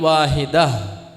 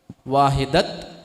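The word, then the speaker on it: واحدة: നഫ്സിൻ വാഹിദ അല്ല നഫ്സിവാഹിദ അവിടെ നിർത്തുകയാണെങ്കിൽ വക്കഫ് ചെയ്യുയാണെങ്കിൽ വാഹിദ വാഹിദത് എന്നല്ല വാഹിദ ആഹിന്റെ ഉച്ചാരണാണ് പിന്നീട് വരുക അവിടെ ആ തൻവീനിന്റെ എന്ന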